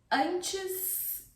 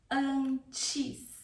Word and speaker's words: antes: Antes, eu preciso tomar um banho. Antes. antes. Antes, if you want to pronounce the E, antes, or antes, with the reduction vowel sound E, sounding like E, antes, ok?